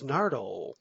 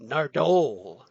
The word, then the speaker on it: Nardole: now officially in the companion, Matt Lucas as Nardole, or as Capaldi likes to pronounce it, Nardole.